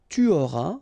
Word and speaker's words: tu auras: J'aurai, tu auras, final S not pronounced, il aura, elle aura, nous aurons, final